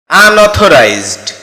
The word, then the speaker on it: unauthorized: যার সঠিক উচ্চারণ হচ্ছে আনঅথোরাইজড।